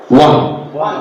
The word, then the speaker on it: won: it ah ah quick one Bangladesh have won the match or in our country teachers say we have own the match mistake is error one